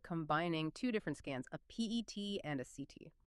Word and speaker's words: PET: So you'll probably just hear it called the PSMA scan, or you might hear them say PET scan, pronounced like the animal, PET.